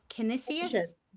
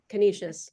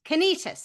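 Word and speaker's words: Canisius: master's degree in education from I can never pronounce this right. Is it Kenysius? Kenishious. Kenishious.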